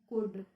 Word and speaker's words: could: अब ये आता है हमारा कुल्ड, इसको इसमें L आता है तो ये L साइलेंट रहता है, तो हम इसको क्या बोलते हैं? कुड। ओके, कुड बोलेंगे, कुल्ड नहीं बोलेंगे।